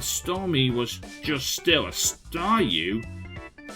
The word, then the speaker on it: Staryu: was just still a Staryu, I could never pronounce its name right, so I just called it a Sawyu. I always ended up it always ended up sounding like Sawyu, so I guess I kind of reverted to that.